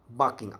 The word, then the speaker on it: balking: तीसरा होता है एक बाकिंग, एल साइलेंट होता है इसमें, बाकिंग, BALKING।